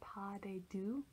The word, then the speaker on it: pas de deux: French last name, but I believe it's pronounced a pas de deux, the dance for two, there with Tuesday Afternoon, I'm picturing all this set in like a park.